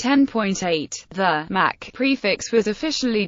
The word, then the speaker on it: OS X: and mac OS 9 the letter X in OS X's name refers to the number 10 a Roman numeral it is therefore correctly pronounced 10 TN in this context